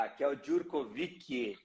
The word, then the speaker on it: Raquel Jurkovic: Raquel Djurkovic. É assim mesmo que pronuncia, Raquel?